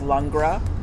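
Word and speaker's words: Langres: called lra it's l n g r s pronounced lra so that's one that you can find every we have every once in a while there's another one called showers showers can we go back to the longra real quick the beauty of longra everybody and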